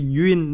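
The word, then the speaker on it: Nguyễn: It's like her name, her Vietnamese name is Yuen, not Yuen.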